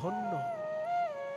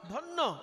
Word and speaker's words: ধন্য: ধন্য। ধন্য শব্দটাকে হিন্দির মতন একটু ভেঙ্গে উচ্চারণ করুন। উচ্চারণ হবে ধনিয়া। জ ফলাটা ইয় উচ্চারণ হয় না। ধন্য। বাঙালি বলে। হিন্দিতে কি বলবে? ধনিয়া। ধন্যবাদ। বাঙালি কি বলবে? ধন্যবাদ।